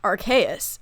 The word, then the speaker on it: Arceus: What if I told you it was actually pronounced Arceus and that I had proof?